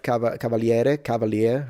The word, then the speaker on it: Cavaliere: Like someone like Jeff Cavaliere, how he pronounces it, but it's an Italian surname, so I'm going to say Cavaliere, whatever.